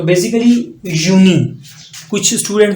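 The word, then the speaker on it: Juni: य की आवाज दे रहा है तो बेसिकली यूनी कुछ स्टूडेंट जो यूनिवर्सिटी के अंदर पढ़ते हैं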